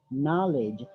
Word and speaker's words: knowledge: Yes, community, and then not knowledge, but you have to make the K word silent. Knowledge, knowledge, not knowledge.